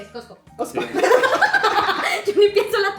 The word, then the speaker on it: Costco: Yo o ni sea, siquiera pronuncio, o sea, yo ni pienso la T, es Costco.